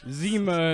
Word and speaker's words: Seema: Zima. Like that CYMA. the drink Yeah. from like Yeah. 1993. Yeah, why don't we get That's Zima also- today?